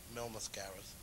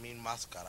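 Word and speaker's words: Mil Máscaras: was in WWF a while they they call Mil mascaras but it's actually pronounced mean mascara and he was the most phenomenal wrestler I've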